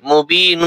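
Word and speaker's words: مُبِينًا: বা ইয়া জের B, movie, নুন দুই জবর নান। এখানে আবার বানান করার সময় নান হবে, আর রিডিং করার সময় মুবিনা। ওয়াকাফা বিহি ইসমাম মুবিনা।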